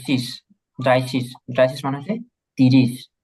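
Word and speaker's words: dreißig: হ্যাঁ, সেম ভাবে এই যে দ্রাই, এই যে শীষ, ড্রাই শীষ।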